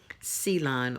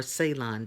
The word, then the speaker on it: Ceylon: With the cinnamon sticks, you want to try to get the Ceylon or Ceylon, depending on how you pronounce it, cinnamon sticks, because it's lower in coumarin, which has to do with the flow of your blood.